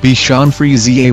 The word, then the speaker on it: Bichon Frise: cherished companions bacon fries the beacon fries pronounced Bichon Frise why has a happy-go-lucky